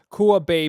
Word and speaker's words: Kua Bay: Okay, so you talked about your publishing company, Kua Bay Publishing. Is that right? Did I pronounce that correctly?